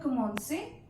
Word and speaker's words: commençais: In commencer verb also, when we are conjugating with nous, we add a steady under C to facilitate the pronunciation, to make the sound of S instead of K.